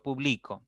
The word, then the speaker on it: publico: verbo en primera persona yo publico está en presente listo Entonces ya cambió de significado y la mayor intensidad cae al medio en la sílaba del medio y en publicó ya